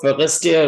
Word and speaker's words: Forestier: इसे इंग्लिश में पढ़ेंगे तो फॉरेस्टियर पढ़ेंगे, और अगर इसकी फ्रेंच प्रोनाउंसिएशन देखी जाए तो फॉरेस्टियर होगा ये, ठीक है।